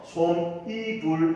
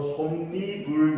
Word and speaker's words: 솜이불: 그래서 솜, 이불 이렇게 발음하는 것이 아니고 솜니불 이렇게 니은이 추가돼서 그지? 니은이 첨가돼서 발음이 된다. 됐나요?